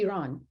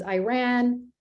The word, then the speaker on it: Iran: So I am American, and you should be able to say Iran, right? Correctly. We had the hardest time getting our voice, TTS voices to say Iran, as you know. It was Iran, and we had to spell it differently.